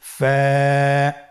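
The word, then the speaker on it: ف: হরফ আমরা দেখতে পাচ্ছি আপনারা আমার সাথে বলুন ফা কফ কাফ লাম মিম নুন ওয়া হামজা ইয়া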